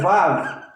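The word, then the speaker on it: ו: Essa letra aqui, do nome de Deus, essa consoante, se escreve assim, mas ela não é W, ela é Vav.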